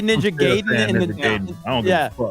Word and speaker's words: Gaiden: I can't move forward with him talking and saying Ninja Gaiden. That's not. That's how it's appropriately pronounced.